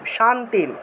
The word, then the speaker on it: শান্তিম: জ্ঞানম লব্ধা পরাম শান্তিম শান্তিম আর ম যে এখানে আছে মকে পূর্ণ উচ্চারণ করলে একটা অ আসে হ্যা শান্তিম উচ্চারণ করতে হবে শান্তিম তারপরে অচিরেধিগাচছতি মের অটা